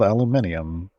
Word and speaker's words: aluminium: In other places, it gets another I, and it gets called aluminium.